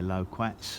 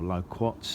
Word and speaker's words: loquat: very keen on their low quats or low quats depending on your preferred pronunciation and that's the update